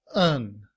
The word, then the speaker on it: and: However, in reduced form, and is pronounced un.